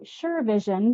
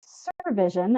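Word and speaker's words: SurVision: of your company consistently I was calling you sure Vision because I was sure I was right but no it's Sur Vision out of Florida uh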